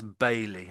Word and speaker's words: Bailey: Yeah, So that one there, that's Bailey. I would say that name there. Bailey. It's basically a surname, a reasonably well-known surname in Britain. So Bailey.